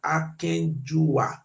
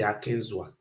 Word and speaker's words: Akenzua: He said the real pronunciation are Akenjua, not be Akenzua.